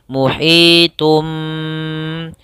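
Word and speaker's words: مُحِيطٌ: Muhitum. Cara membacanya adalah kita tahan dulu suara tumnya baru masuk ke ba.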